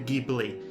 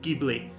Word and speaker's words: Ghibli: default by the way that's how I pronounce Studio gibl not gibl I pronounce it gibly and I'm not the only one get off my case